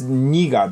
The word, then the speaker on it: 니가: So she says, 내가, but it's 니가 basically. Yeah, you 니가 write it, 최고야. write it like in 내가, but you actually pronounce it as 니가.